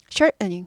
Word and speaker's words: shortening: "Shor-ning" 은 " short-tuh-ning" 보다 더 고급 스러운 발음 입니다 . "Shortening, shortening " 은 짧게 만들 때 'en' 을 붙여 더 짧게 만듭니다 .